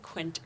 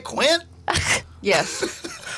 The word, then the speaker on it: Quinte: a big one that it's pronounced quinty even though Siri says it funny yeah Doug said Quint earlier and that's sort